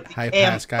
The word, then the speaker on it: Pascal: Hey, Pascal. Emphasis on second syllable.